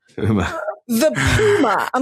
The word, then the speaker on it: Puma: I'm like, Randy, there's no poo in Puma. Puma. The Puma.